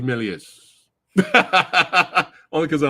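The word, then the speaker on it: Méliès: watched there we go pronounced melies I'm I'm gonna stick with Melius only because I like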